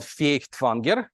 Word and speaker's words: Feuchtwanger: So I begin with Leon Feuchtwanger, or as he was known, Leon Feuchtwanger in the Russian kind of pronunciation.